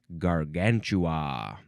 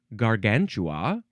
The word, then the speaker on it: Gargantua: Now we have gargantua.